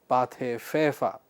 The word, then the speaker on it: Pathé Frères: I told you that this is a French name and the pronunciation is Pathé Frères.